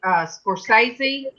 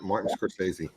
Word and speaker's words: Scorsese: There's a thing on Netflix by Scorsese. Isn't that how you say his name? Yep, Martin Scorsese.